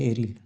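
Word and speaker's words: aryl: तो इसी को हम लोग कहते हैं एरिल। हिंदी में एरिल पढ़ते हैं और इंग्लिश में एराइल पढ़ते हैं, प्रोनाउंसिएशन का फ़र्क है।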